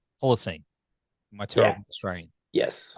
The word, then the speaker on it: Holocene: Well, of course, man, the new Ocean album, Holocene, is that how you pronounce Holocene? Holocene.